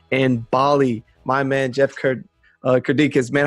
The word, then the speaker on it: Kirdeikis: the way out in Bali, my man, Jeff Kirdeikis. Man, how do you say your last name? I don't want to butcher that too bad. You know, you're the closest out of most people. It's Kirdeikis. Kirdeikis.